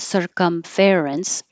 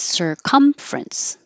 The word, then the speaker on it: circumference: So it's not circumference, it's circumference. Just drop this E right here, and that makes it fewer syllables.